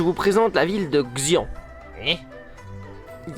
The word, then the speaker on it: Xi'an: Aujourd'hui je vous présente la ville de Xi'an. Il y a un problème de prononciation là. Aujourd'hui je vous présente la ville de Xi'an.